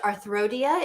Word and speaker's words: arthia: no problem so um my name I guess would be pronounced arthia in the chat um it was a riff on arthodesis back when I wanted to be an orthopedic surgeon um I actually ended